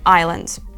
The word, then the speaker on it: island: ж є ще приклад Silent S у слові Island так само літера T Вона може звучати наприклад